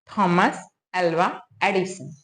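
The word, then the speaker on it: Thomas Alva Edison: मतलब परिचय भी हो उसका नाम क्या है थॉमस एलवा एडिसन थॉमस एलवा एडिसन इसका स्पेलिंग क्या है टी एच ओ एम ए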